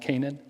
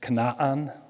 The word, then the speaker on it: Canaan: don't know anything so that word is not pronounced kanan it's kanaan okay that double a is always so it's not baol